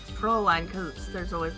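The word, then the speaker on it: Fräulein: I believe it's pronounced Fraulein.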